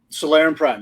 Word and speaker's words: Solarian Prime: Solarian Prime, that's right.